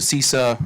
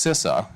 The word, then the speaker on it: CISA: I went through and I went to the cisa or excuse me I found out yesterday it's pronounced sisa Kev their known exploited vulnerability database uh it's